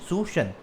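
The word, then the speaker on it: suasion: तो moral सुशन, okay, इसका pronunciation है सुशन, credit rationing and margin requirement.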